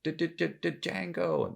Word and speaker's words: Django: pronounce his name and goes django the d silent hillbilly you know he